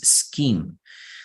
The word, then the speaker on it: scheme: scheme notice that um sometimes they see age like a right for example in the word schedule or in the word in this case scheme scheme is very similar to schedule okay so scheme is